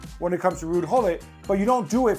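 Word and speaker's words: Ruud Gullit: We're not Dutch and we pronounce the G as gole. When he comes to England everybody's like oh look it's rude hole.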